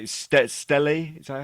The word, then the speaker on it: stele: Stele? Is that how you say it? The statues. How do you say it? Stella.